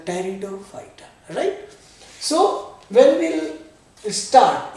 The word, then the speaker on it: Pteridophyta: fighter brow your fighter and P is silent you will see the Teredo fighter alright so when we